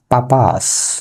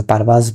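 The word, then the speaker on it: purpose: পাপাস, যেটাকে পারপাস বলি, এটা হচ্ছে পাপাস।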